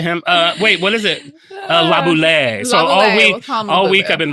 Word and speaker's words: Laboulaye: So you say it like this. If you're in America, you can say Laboulaye.